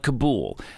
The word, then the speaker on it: Kabul: um kabul or kabul i'm not gonna call it cobble i'm gonna call it kabul i'm not gonna call